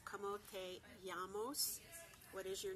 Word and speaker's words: llamas: If you'd like to ask somebody what their name is, it's como te llamas. The double L in llamos is always pronounced with a Y. So it's como te llamas.